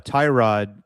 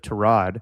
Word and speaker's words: Tyrod: No, we still call Tyrod Tyrod instead of Trod.